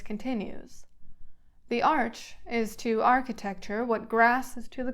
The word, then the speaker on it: architecture: oldest of architectural devices Arch architecture Frederick pronounces the CH precisely as in Arch the very word will